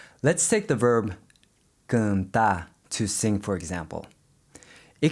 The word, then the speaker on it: cantar: But in Portuguese, when you see a vowel followed by an N, that's usually an indicator that you should be pronouncing it with a nasal sound.